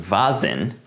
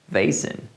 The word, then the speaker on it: Vazen: that's because I recorded the whole video saying bazan and then after I sent an email to them asking how the name is actually pronounced and they replied saying it's vason so I did a bunch of dubbing and